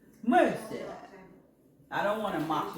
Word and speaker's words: Merci: There was a Frenchman in there, and he said it's called Mercy. Mercy.